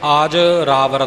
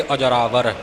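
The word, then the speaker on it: ਅਜਰਾਵਰ: इस बंधक पाठ ने आज रावर नहीं आज रावर पाठ नहीं करना अजरा वार संबंक न जोड़ के अजरावर जिव गुरुमुख ने पाठ कीता है य उच्चारण अजरावर य इसका उच्चारण होवेगा त अजरावर अमृत सब चालन हारी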